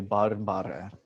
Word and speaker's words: barbare: The nominative is barbarus, but these us words in the second declension, they form their vocative by adding a short e sound at the end. So we would say barbare.